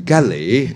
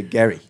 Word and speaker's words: Gary: and my mother-in-law says Galley yeah it should be Gary yeah yeah with the stress on the emphasis on the first Gary yeah yeah yeah yeah